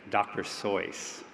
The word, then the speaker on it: Seuss: Seuss, or more correctly, as he would say, Dr. Seuss. That's how he pronounced it.